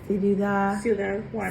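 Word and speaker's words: Ciudad Juárez: And city of how do you say that? Ciudad Juarez.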